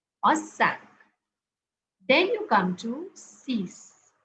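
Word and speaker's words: cinq: cats cat Okay cat number five is not sink it's sank sank so here you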